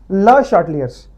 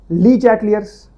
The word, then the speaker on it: Le Chatelier's: Pronunciation क्या है इसकी, ला शाटलियर्स, ली चैटलियर्स, ले चाटले, ऐसे कोई बात नहीं बोलनी है इसको, आपने बोलना है इसको ला शाटलियर्स प्रिंसिपल।